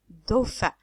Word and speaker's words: dauphin: s'appelle le dos fin le pH se prononce comme F do fin do fin dauphin donc le dos plus